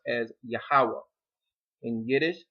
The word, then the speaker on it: Yahweh: In Hebrew, this name is pronounced as Yahweh. In Yiddish, it's pronounced as Yahweh.